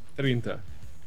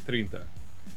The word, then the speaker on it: trinta: Trinta. Trinta? Trinta. Spell it. Trintaa. Trinta. All right. Because in Portuguese, we don't roll the R's all that much. We just kind of let them slide out.